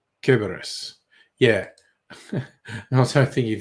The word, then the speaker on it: Cerberus: Yes, Greeks do a hard C. Cerberus.